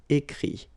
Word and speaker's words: écrit: But then phonetically it's I as well, because you don't pronounce the final T, okay? Écrire, écrit.